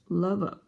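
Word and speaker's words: Lwów: Maybe the nearest big city, Lvov, pronounced Lvov.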